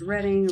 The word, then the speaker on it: Reading: Pronounced Reading, originally chartered.